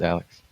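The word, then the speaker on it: Alyx: alex or something oh yeah how do you pronounce that it's alex alex uh for like vr and i'm hearing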